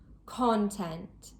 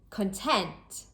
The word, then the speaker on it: content: As a general rule, with 2-syllable nouns, the stress is placed on the first syllable. Content, contract, object, record. And with 2-syllable verbs or adjectives, the stress is usually placed on the second syllable.